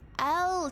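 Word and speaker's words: Elleh: Elia. Church of Chad. How do you pronounce E L L E H? Uh. L. Ah, L. Church of L.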